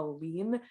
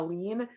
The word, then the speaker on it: lien: english is i believe a lean so i think i pronounced that right l-i-e-n um a lean so there would be